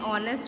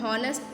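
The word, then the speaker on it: honest: ठीक है, उसमें ऑनेस्ट, हम हॉनेस्ट नहीं बोलते हैं. ठीक है, एच को हम लोग क्या करते हैं? साइलेंट रखते हैं.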